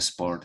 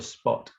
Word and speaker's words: spot: again b on a sport is like lifestyle no no no be on the spot on the spot sport with air or a spoiler no way s p o t no r um maybe if